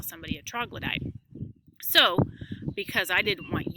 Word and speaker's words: troglodyte: The word is pronounced troglodyte.